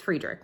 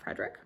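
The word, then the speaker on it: Fredrik: o by Fredick Bachman I think it's friederick not Frederick Frederick Bachmann friederick see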